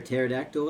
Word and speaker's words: pterodactyl: Why can't you hear a pterodactyl in the bathroom? Because the P is silent.